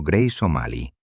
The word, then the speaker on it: Grace O'Malley: Fue exactamente en este entorno implacable donde nació Grace O'Malley, pronunciado Grace O'Malley, la heroína que se convertiría en la peor pesadilla de la corona británica.